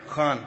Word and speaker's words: Khan: Khan from the Epiglottis.